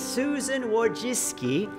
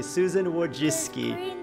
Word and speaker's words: Susan Wojcicki: Susan is the CEO of YouTube she is Susan Wojcicki I know that's the correct way to pronounce her name because I watched her video explaining how to pronounce her name correctly Susan Wojcicki she's polish yes Abby that's because as I